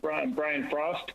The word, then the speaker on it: Brian Frost: the record you may begin my name is brian frost b-r-i-a-n f-r-o-s-t good morning i urge you to